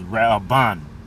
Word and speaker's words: Reuben: And the pronunciation of his name in the in the Hebrew is Raan.